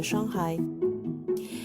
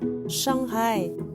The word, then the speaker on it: Shanghai: génération après 80 de shanghai et vous l'avez peut-être remarqué on prononce la lettre h en chine donc shanghai est la bonne prononciation d'ailleurs on prononce comme